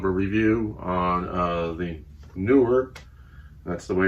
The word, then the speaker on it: Neewer: little bit of a review on uh the newer that's the way it's pronounced newer light box uh this item I just purchased